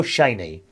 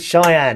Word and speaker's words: Cheyenne: at the same Hotel the hotel Shane or sh no CH Cheyenne isn't it I always call it chain think it's spelled c h e y n e the hotel Cheyenne which